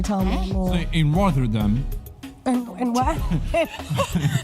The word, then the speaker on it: Rotterdam: It's double T. Rotterdam. Yeah, Rotterdam. That's how you say it, right?